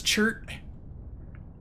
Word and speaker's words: Chert: I need to find Chert's voice. I don't think I have it right now. Because name's Chert. Rhymes with dirt, as all things should.